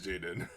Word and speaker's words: Jadon: sure it's jaden though oh it is jayden but his name is spelled so weird as in like jaden like what is it it's j-a-d-e-no um if you